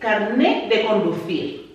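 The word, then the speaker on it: carnet: okay and last but not least carne now put the t in brackets because you don't really pronounce it which is your driver's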